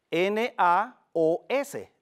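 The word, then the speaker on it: ναός: traducida por templo es la palabra naos, N-A-O-S, naos, así como se pronuncia.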